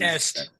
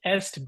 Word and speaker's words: est: from the Western us you could just say the West is best there you go west west EST West EST best I like that that's